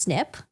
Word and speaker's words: SNP: positions are single nucleotide polymorphisms SNP pronounced snip the director consumer genealogy